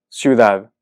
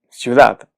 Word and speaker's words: ciudad: Ciudad. Ciudad. Esta palabra termina en D. Y su sílaba tónica es la última, es decir, es aguda.